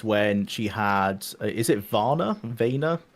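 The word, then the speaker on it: Vaner: I just The only time I agreed with it was when she had is it Vanna? Veaya? I think it's it might be pronounced like honor like vonor like her son essentially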